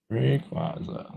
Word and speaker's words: Rayquaza: Rayquaza, however you want to pronounce it. Rayquaza.